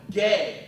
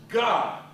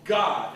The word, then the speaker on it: Gad: tribe is the showbread you call it Gad but it's pronounced God one of the so-called 12 tribes of Israel is called God and it guards the